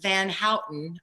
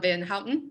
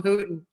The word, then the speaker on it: Van Houten: You always call him Hooten.